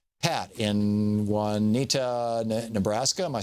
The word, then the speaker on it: Juanita: Pat in Juanita, Nebraska.